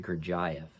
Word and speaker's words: Gurdjieff: All right, so this is Gurdjieff, or as Charles Ashton pronounced it, Gurdjieff.